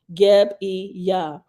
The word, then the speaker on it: Gebiah: It is pronounced Geb-e-yah.